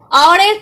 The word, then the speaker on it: hour: Next আছে অ্যান আওয়ার, আওয়ারের ক্ষেত্রেও এটার প্রোনাউন্সিয়েশনটা হচ্ছে আওয়ার, আওয়ার।